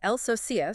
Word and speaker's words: El Sosias: And it's pronounced El Sosias, so with the accent on the I.